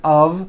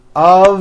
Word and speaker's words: of: spelled with an F we pronounce the word of with a voiced v I know this sounds